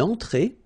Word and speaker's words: entrée: Then une entrée. Une entrée. Okay, remember, well, technically this final here is not pronounced, so phonetically it doesn't exist, so it's et. Okay, entrée. Remember, nasal here, en, entrée.